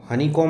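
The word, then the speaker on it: honeycomb: पाता है, अ हनीकॉम, हनीकॉम होता है मधुमक्खी का छत्ता, यहाँ पे बी साइलेंट होता है, हनीकॉम वह मधुमक्खी का छत्ता खोजता है।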